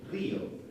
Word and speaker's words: río: When you say I laugh, you say yo río, which is the same as Rio de Janeiro.